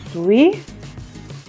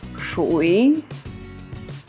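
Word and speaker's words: 水: По-японски он читается суи. По-китайски это шуи.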